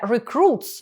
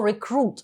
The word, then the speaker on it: recruit: Зверніть увагу на слово Рекрут воно вимовляється з наголосом на другий склад Рекрут - це новобранець